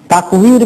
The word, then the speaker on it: তাকওয়ির: তাকওয়ির মানে তাকদীর না, দশকম আছে ওয়া, অনেক সময় বায়ের কাছাকাছি হয়ে যায় উচ্চারণ করতে, তাকওয়ির উইথ দা ওয়াও।